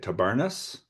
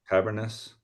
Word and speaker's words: Tabernas: Tabernas Festival in Spain. It's like Cavernous, I think. Tabernas.